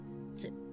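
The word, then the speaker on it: つ: The first kanji is pronounced as hito, which you might remember the person kanji was also pronounced hito. And the second character is actually just the hiragana character for tsu.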